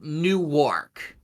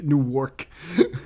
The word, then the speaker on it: Newark: But if you live out of here, Newark. But it's not New York. Newark.